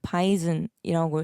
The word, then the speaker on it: WEISSEN: 바이젠이라는 프로듀서가 항상 계시는데 이 분을 위센, 와이센, 바이젠, 바이튼, 바이젠 어떻게 읽어야 될지 모르는 분들을 위해서 일단은 바이즌이라고 읽고 있고요.